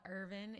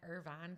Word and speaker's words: Irvine: A small town called Irvine. It's spelled just like Irvine, California.